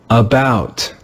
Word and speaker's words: about: Do you hear that the first syllable is not stressed? Listen carefully. About, about, about. Since the letter A is in a syllable that is not stressed, we read it with the sound In this word, we